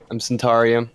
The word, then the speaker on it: Centaurium: No, it's the one where you don't pronounce it. Hi, I'm Centaurium or.